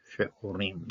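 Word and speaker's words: שְׂעֹרִים: okay, the harvest of she'orim, okay. She'orim. You're going to pronounce the Shabbat because it starts at the front. When it's at the front of a syllable, it's going to be pronounced.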